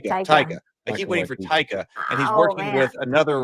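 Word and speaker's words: Taika: forgotten well I keep waiting for how you pronounce this ta ta ta ta ta I keep waiting for taica and he's working with another writer now he's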